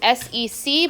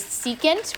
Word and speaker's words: secant: Okay, the shorthand for secant when we're writing it in an equation is SEC, but don't say sec, it is secant.